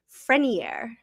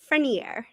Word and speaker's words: Frenier: I looked up how to say her name. It's like Judge Frenier. It's like cuter than we've been saying it. It's like Frenier.